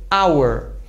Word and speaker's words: hour: Mas em algumas palavras ele é mudo, como no português. Por exemplo, honest, também hour.